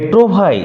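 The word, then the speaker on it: trouvaille: হিউইকে প্রকাশ করলেন না এ ট্রু ভাই উচ্চারণ লক্ষ্য কর নট ট্রোভাইয়েল এল এর উচ্চারণ হবে না এ ট্রুভাই মৌসে এ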